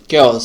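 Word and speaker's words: coup: কুর এখানে কিন্তু যে শেষে যে পি আছে পির উচ্চারণটা হবে না তারপরের শব্দটি হচ্ছে সুডোনিম অনেকে সিউডোনিম বলেন তো এটা আসলে সোডোনিম সঠিক উচ্চারণ।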